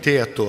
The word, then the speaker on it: Théato: thank you Mr chairman and the pronunciation was correct like that my name is